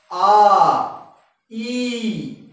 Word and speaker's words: ঐ: এই অ এবং ই এই দুটো মিলে উচ্চারণ হচ্ছে আই। আই তোমরাও আমার সঙ্গে অভ্যাস করে নাও। আই ওই নয় আই।